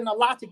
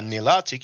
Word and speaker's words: Nilotic: Now Nilotic, you have Nil or Nile, Maybe in America people will pronounce it Nilotic, in French we say Nilotic.